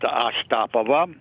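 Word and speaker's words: Astapovo: Ostapovo, as the name of it, comes from the ancient name Ostap, pronounced Ostapovo.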